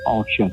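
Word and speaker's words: Osian: Um, Ashen, O S I A N is pronounced Ashen. Ashen.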